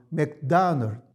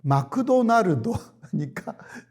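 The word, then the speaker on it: McDonald's: 하기도 하고 맥도날드 막 이것은 그냥 미국의 용어 발음으로는 맥도널 이런 식으로 말하거든요 그러나 일본 말은 마크도날니까 무슨 말인지 모르잖아요 다 그러니까 마크도 다 모음으로 끝나 있잖아요 마크도 나르도 그러니까 이게 표기법 자체가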